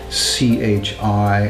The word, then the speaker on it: qi: is very famous actually often see it spelled c-h-i or c-h-e-e but in modern opinion which is